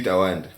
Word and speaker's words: TWNDA: So it's really Tawanda. Tawanda. But then like at the time when I was setting up my Spotify, it was. I think there's another Tawanda there.